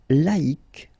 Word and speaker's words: laïque: Yes, you need to take away the C and then put Q-U-E, but then phonetically, if you pronounce it, you pronounce it exactly the same way.